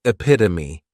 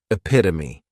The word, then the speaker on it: epitome: catch 22 next is epitome and this noun has four syllables and the stress is on that second syllable epitome this is a word